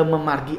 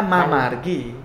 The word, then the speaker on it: mamargi: Jadi misalnya ketika mengucapkan mangde preside memargi antar gitu. Mereka mengucapkannya mamargi. Oh iya, karena tulisannya mamargi ya.